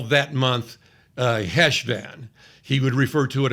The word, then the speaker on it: Cheshvan: pronounce it Hanukkah, and you do that growl at the back of your throat. I'm going to call it Heshvan, okay?